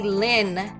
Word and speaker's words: ln: log base E of ax if you see Lin okay we pronounce it as Lin but we don't say